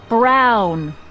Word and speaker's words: Brown: to a te that's EMT Brown rhymes with clown which I'm beginning to